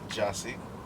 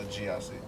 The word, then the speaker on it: Gyasi: In Swahili, they pronounce it Gyasi. But Gyasi. growing up, I'm just used to Gyasi. That's like the Crucian way of saying that you would say.